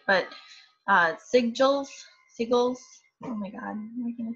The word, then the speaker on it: sigil: Let's see how we pronounce this real quick. Let's just do this. Just walk with me. Sigil.